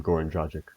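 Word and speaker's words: Goran Dragić: Goran Dragic.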